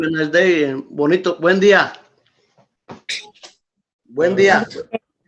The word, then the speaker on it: buen día: Buen día. Buen día. Say that again, Ms. Miller. Buen día. Buen día. Very, that's like Buenos Dias. Yes, yes, but just buen without the O.